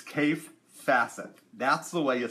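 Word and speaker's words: Kaffe Fassett: time um cafe laughs his name is pronounced cave and so just so you know its cave facet that's the way you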